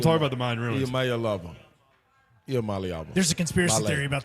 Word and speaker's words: Iamaleava: I'm Nico Iamaleava, and the correct way to pronounce my last name is Iamaleava. Iamaleava.